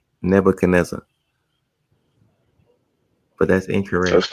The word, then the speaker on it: Nebuchadnezzar: I'm like, where they getting Nebuchadnezzar? Cuz it's a D in the name. And nobody that that that I spoke to from that point to when I figured this out and they never pronounced the D. I'm like, nobody is pronounced. That's what that's what my friend said. I'm like, no, they just not saying it.